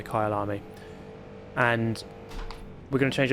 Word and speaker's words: Kyalami: Kyalami.